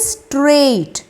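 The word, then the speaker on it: straight: answer fourth one इज स्ट्रेट एस टी आर ए आई जी एच टी स्ट्रेट correct answer जिसमें जी H silent letters हैं last is different जिसमें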